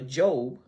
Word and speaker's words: Job: said he called it job. And there was no snickering. It was people actually laughing. That ain't no job, that's Job.